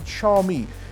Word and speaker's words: Xiaomi: They've launched this Redmi Note 2 device, and this is Xiaomi. That's how you pronounce it, Xiaomi.